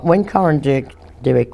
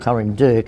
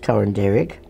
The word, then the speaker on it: Coranderrk: When Corin Dirk was closed, some people call it Corin Dirk, and should be, the two R's should be pronounced Derek. When they closed Corin Dirk, my grandmother and the